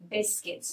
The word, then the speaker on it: biscuits: put this picture um a pack of biscuits biscuits notice here you and I are not pronounced wheat like French we can't say biscuits